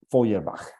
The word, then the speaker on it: Feuerbach: era el materialismo de ferach feuerbach pronunciado en alema eh decían la tesis